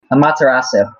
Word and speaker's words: Amaterasu: Amaterasu. I'm willing to learn. How do you say it? Amaterasu.